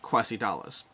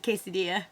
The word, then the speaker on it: quesadilla: fun fact story time the most embarrassing war that I've ever mispronounced is quasi Dallas and if you're wondering what a quasi dollar is it's a quesadilla it's a quesadilla because